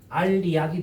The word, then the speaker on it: 알약: 이것도 똑같아, 얘들아. 처음에 뭐야? 알약이 됐다가 나중에 어떻게 됩니까? 알리약이 돼요.